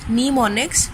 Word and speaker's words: mnemonics: Pronounced as mnemonics, programs written in usually assembly code are translated into machine code by an assembler.